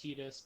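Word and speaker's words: Tidus: People pronounce it as Titus, but it's actually pronounced Titus.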